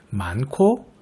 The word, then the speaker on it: 많고: 많고 습도, 햇볕이 또는 햇볕이, 강릉, 대관령 이라고 읽어야 옳은 발음입니다. 단어마다 왜 그렇게 발음되는지도 알아보도록 하죠. 먼저 많고는 히읗과 기역이 축약되는 거센소리 대기가 일어나고요.